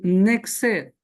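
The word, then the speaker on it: נצר: es la palabra hebrea nexer, que es de tres letras. Recuerde que en el hebreo no existen vocales. Es la letra n, por decirlo en español, que en hebreo es la letra nu.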